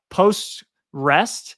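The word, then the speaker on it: PostgREST: butcher the pronunciation but it's like post uh post rest so it's like postgres over http and i i'm not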